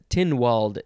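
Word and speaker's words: Tynwald: the isle of man it is tin walled day with it it's spelled t-y-n and then are there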